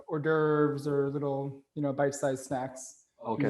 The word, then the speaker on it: hors d'oeuvre: It's, canapé is for like hors d'oeuvres or little, bite-sized snacks. Okay. Usually before a menu, before a dinner party or something like that. Yeah. So like a horse duver.